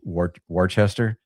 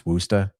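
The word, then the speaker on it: Worcester: be spelled or pronounced Wararchchester, but it's Wooa. You got to say it with the accent.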